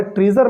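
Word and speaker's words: treasure: जैसे यहाँ पर लास्ट में SUR है, ट्रेजर में क्या है, SUR है, तो इसको हम श्योर क्यों नहीं पढ़े, इसको हमने सर क्यों नहीं पढ़ा, ठीक है। तो ये इंग्लिश में अपवाद है कि एस का उच्चारण अलग अलग होता है, कहीं ज़ होता है और कहीं सा होता है, ठीक है। तो इसको पढ़ेंगे ट्रीजर, ठीक है।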